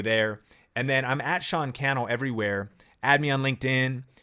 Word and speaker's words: Sean Cannell: And hit me up on Facebook, any of the platforms, at Sean Cannell, rhymes with YouTube channel.